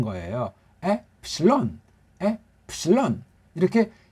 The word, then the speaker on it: 엡실론: 엡실론, 엡실론. 엡은 조금 올리고 론자는 많이 올리고 엡실론. 예. 그게 어떻게 됐지? 에에다 푸실론 한 거예요. 엡실론, 엡실론.